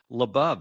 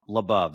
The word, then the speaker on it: LaBov: LaBov, that's exactly right. Now, I do have relatives throughout the world, and they either call it LaBov or LaBov. I'm LaBov, so it rhymes with above.